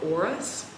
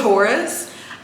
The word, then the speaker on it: Horus: serving me right it is the Temple of orus why did I pronounce Horus so weirdly it is the Temple of Horus um and there's just something about the energy